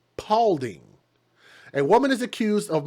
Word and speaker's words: Paulding: here no it's not it's not spalding it's paulding a woman is accused